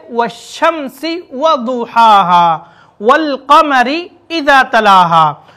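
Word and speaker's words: والشمس: है तो हम उसे वश्शम्सी की तरह पढ़ेंगे। लाम वहाँ साइलेंट हो जाएगा और लाम के बाद वाले हर्फ पर तशदीद आ जाए, वश्शम्सी।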